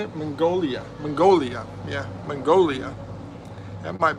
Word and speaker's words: Mongolia: Um, you know, you also got uh Magnolia. How do you say that? How do you say it? Mongolia.